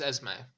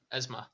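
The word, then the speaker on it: Esmé: It's Esme because Lene Yeah, you're right. had the similar How did little I pronounce it? asterisk. Esma. Well, I think the asterisk over the E makes an A sound.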